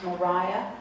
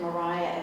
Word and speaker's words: Maria: The name is spelled Maria, but it is pronounced Mariah. Thomas Jefferson had a daughter named Maria, but they pronounced it Mariah as well.